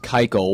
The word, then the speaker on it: Keuchel: I really want to know why it's pronounced Keuchel when it literally looks like Kuchel. That's what I want to know. Well, I remember during Fantasy Fanatics, I said Kuchel all the way up